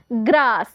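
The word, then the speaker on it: grass: के लिए स और देखिए यहां पे एक एस साइलेंट रहेगा ठीक है तो देखिए हम इसे पढ़ेंगे जी आर A double S ग्रास ग्रास का मतलब क्या होता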